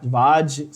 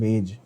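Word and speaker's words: Waage: Maximilian गुल्डबर्ग and Peter, many people call him Vaj, some people call him Wage. I think Vaj or Vag would be a better pronunciation.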